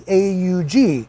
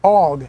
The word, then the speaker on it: AUG: in the video that the proper pronunciation of the styre uh bullpup rifle is called the aug not the og as everyone in the